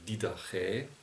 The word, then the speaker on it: Didache: Deutscher würde man sagen, das sieht aus wie die Dache, aber es wird auf dem letzten Buchstaben betont und dann noch wie ein Ä ausgesprochen, also Didache.